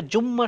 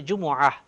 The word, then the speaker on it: জুমআহ: দ্বিতীয় হলো জুমার নামাজ, এটা জুম্মা শব্দ বলাটা ঠিক হবে না, এটা হচ্ছে জুমআহ, আরবিতে বলা হচ্ছে জুমআহ। আমরা শুদ্ধ উচ্চারণ করার জন্য চেষ্টা করব। অনেকে আমরা বলি জুম্মা, জুম্মা না, এটা জুমআহ।